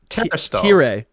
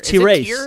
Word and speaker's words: Terastal: There's no way it's tier. It's T-race. It's T-race. No. That's what the chat's saying. T-race. It is T-race, like tear, like I'm crying tears.